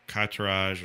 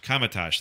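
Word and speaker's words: Kamar-Taj: I definitely think not the first half of the attack, Katarage, or I already forgot how to pronounce that. Kamatage, thank you.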